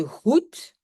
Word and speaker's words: goed: Et on avait déjà vu avant que le T de niet et le D de goed ne sont pas toujours prononcés non plus.